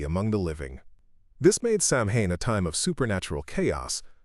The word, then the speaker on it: Samhain: The most important and most ominous was Samhain, pronounced Samhain.